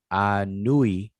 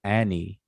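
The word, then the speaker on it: Ani: one it would be a nui anui but we pronounced him as annie and so this water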